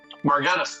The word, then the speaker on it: Margetis: We have Chris Margetis. Did I pronounce that right? Margetis, that's exactly correct.